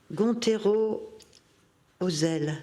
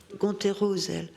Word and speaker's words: Gontero-Ozel: va peut-être appeler, alors Gontero-Ozel, c'est comme ça que ça se prononce, hein, Gontero-Ozel.